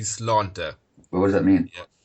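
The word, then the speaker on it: Sláinte: The Irish word for health is actually slánta.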